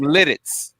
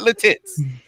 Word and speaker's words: Lititz: not from le tits from lititz from lititz not latitudes but you just did